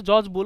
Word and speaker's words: Boole: রং বলে বুলি বলে, আসলে বুলি না, এটা বুল।